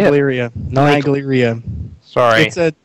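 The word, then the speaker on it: Naegleria: And then our second guest, all the way from Canada, we have Naglaria. Is that how you say it? Nigleria. Nigleria.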